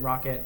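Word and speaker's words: rkt: yeah so there's also lxc and Rocket um yeah pronounced rocket uh yeah but those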